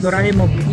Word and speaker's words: Doraemon: Is that how you pronounce it, Mr. Emil? Yes. Doraemon.